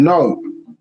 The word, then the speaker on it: gnome: this word in english this silent g called no yeah and known to